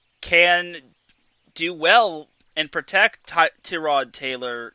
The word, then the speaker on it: Tyrod: And I think the Chargers offensive line, if healthy, can do well and protect Tyrod Taylor. Yes, it's pronounced Tyrod, but I'll probably still call him Tyrod.